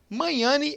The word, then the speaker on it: Magnani: Magnani, o sobrenome dele. JP Manhani, eu acho que é assim que se pronuncia, né? Até agora não me corrigiu, então acho que eu tô certo.